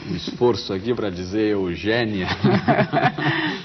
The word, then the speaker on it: Eugénia: No programa de hoje eu converso com Eugênia Melo e Castro, filha de poetas, grande cantora portuguesa, grande divulgadora da música brasileira em Portugal e no mundo todo.